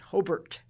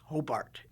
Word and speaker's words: Hobart: got an email that they didn't call it hobart they called it hobert well it's spelled hobart so down here we called it hobart it might be hobart up north but it's hobart down here so he had